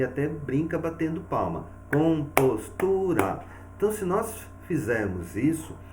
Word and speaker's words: compostura: Então, nós temos um exemplo aqui, compostura. Então, o que nós vamos perceber? Ao pronunciar esta palavra, nós visualizamos que o tu recebe uma força maior. Então, o tu é a nossa sílaba tônica e as demais são as sílabas átonas.